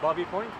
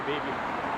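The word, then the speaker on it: Baby Point: How do you pronounce it? Bobby? Babby? Bobby. That's called Bobby Point. Most people just say baby.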